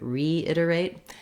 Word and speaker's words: reiterate: Now, in that case, I was stressing more on re than we naturally would, but the re syllable does have a little bit of stress. And that means the letter E is going to say the e sound here versus other words with